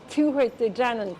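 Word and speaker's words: Tuatha Dé Danann: The first word here is Tuatha De Danann, which means literally people of Dana.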